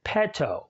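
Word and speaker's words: petō: and is pronounced ramus the short e sounds more like the e sound in our word bet or maybe in pet we can hear this sound in the Latin word pet Oh which means I seek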